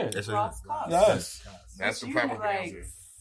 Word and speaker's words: Rass Kass: Rass Kass. Yes. That's the You proper like pronunciation.